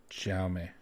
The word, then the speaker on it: Jaume: Jaime? Jaime. It's Jaume.